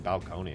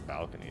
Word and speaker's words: balcony: pronounce balcone how embarrassing why' you say it balconi it's pronounce balcony that's embarrassing I'm going be